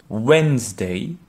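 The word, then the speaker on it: Wednesday: le mercredi par exemple le mercredi se prononce en anglais once terry et plusieurs lettres qui ne se prononcent pas si tu veux à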